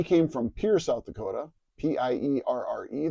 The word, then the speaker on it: Pierre: He came from Pierre, South Dakota, P-I-E-R-R-E, that most national people pronounce as Pierre. It was Pierre, South Dakota.